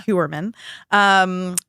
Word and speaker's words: Heuermann: If you're new, you may have heard of the accused killer, Rex Heuermann. Mm-hmm. That's how you say it, right? Yeah. Heuermann.